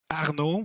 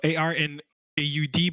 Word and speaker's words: Arnaud: So my name is pronounced Arnaud, so ARNAUD, but in French, AU sounds like an O and you don't pronounce the D.